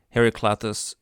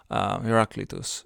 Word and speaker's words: Heraclitus: think about like um Harry clatus um Hercules two heraclitus yes uh I butchered her his name uh there but I corrected myself now good um as well